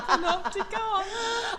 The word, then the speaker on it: Panopticon: Yes, I learned how to pronounce it. Hello, Judith. Hello, Michelle, and well done. You said Panopticon.